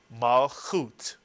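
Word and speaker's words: מלכות: And therefore, put the word together, these two syllables, and you get the word malchut, from the three-letter root, mem, lamed, chaf.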